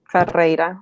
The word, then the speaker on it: Ferreyra: And how do you pronounce your last name? Ferreira. That one's a little bit more complicated. Ferreira.